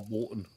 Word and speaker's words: Bolton: So, or Bolton. Bolton. That was a good one. That was a good one. Bolton. The only place where they pronounced an O was a U.